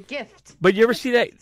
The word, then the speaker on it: GIF: Do you guys say GIF or JIF? Yeah. It's GIF, right? Yeah. I hear some people say JIF.